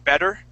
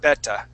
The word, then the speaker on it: better: an instead of a, like the word better, okay, we would pronounce that instead of beta.